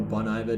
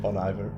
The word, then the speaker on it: Bon Iver: Yeah, and there was even, like, sometimes you get the good old Boniver or Bon Iver, depending who you are and how you Bon pronounce Iver. it. Bon Iver.